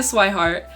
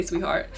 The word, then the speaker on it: Swihart: For example, when I introduced myself, I'd sometimes joke, I may be a sweetheart, but I'm actually a swihart. Because a lot of people mispronounce my last name, they say sweetheart.